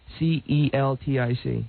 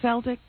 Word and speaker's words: Celtic: do you spell Celtic c e l t i c isn't it Celtic no it's Celtic it would be Celtic you better learn how